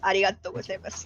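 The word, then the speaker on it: ありがとうございます: Arigato gozaimasu.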